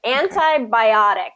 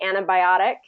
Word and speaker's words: antibiotic: into it okay okay antibiotic and it was funny because when I was saying this usually actually native speakers are going to say antibiotic really fast antibiotic and not pronounce the T like antibiotic or anti